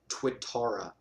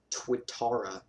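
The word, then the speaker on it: Tuatara: super cars or SSC as it's called Uh twitara has an interesting name it's spelled t-u-a-t-a-r-a and it's a really exotic unique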